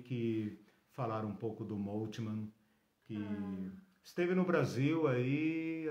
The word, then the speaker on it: Moltmann: E Moltmann é com temudo. Moltmann é com temudo. Moltmann, isso. M-O-L, Moltmann, como nomes alemães, né? Man com 2 N's no final.